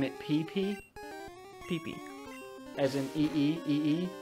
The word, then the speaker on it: Pippi: Pee-Pee. As in E-E, E-E? No, it's like how it's spelled right there, Pee-Pee. Okay. I mean, that is technically how it'd be pronounced in Japanese.